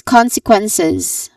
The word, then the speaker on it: consequences: Following this is consequences. Again, consequences. There's four syllables all in all starting with con, which is the stressed syllable.